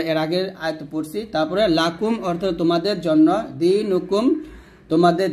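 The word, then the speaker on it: لَكُمْ: তারপর লাম জবর লাহ কাফ মিম পেশ কুম লাকুম দালিয়া জের দিনুন পেশ নু দিনু কাফ মিম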